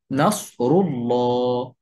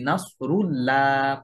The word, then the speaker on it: নাসরুল্লাহ: যদি এমন হয় তাহলে আল্লাহ শব্দের দ্বিতীয় যে লাম, যেটার উপরে তাসদীদ এবং খাড়া জবর থাকে, সেই লামটা মোটা করে উচ্চারণ করে পড়তে হয়। যেমন নাসরুল্লাহ, রসুলুল্লাহ, আলাল্লাহ।